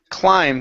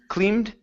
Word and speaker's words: climbed: next up we have the word climbed instead of CLE cleed it's I long ey sound okay they climbed sorry